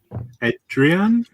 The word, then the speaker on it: Adrian: Hi, Suan, Donnie, and Adrian. Is that how I pronounce your name? You're on mute, so I can't hear you. Yeah, my name's Adrian. Hi, welcome. Yeah, that's how you say it.